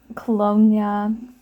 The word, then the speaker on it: colonia: Yeah, I fully believe that like, colonia, pronounced like lasagna, Oh.